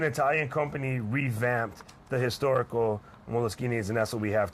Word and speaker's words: Moleskine: Basically, an Italian company revamped the historical Moleskines, and that's what we have today. And there's no moleskin involved. It's actually Moleskine because that's just the way it's pronounced in Italian.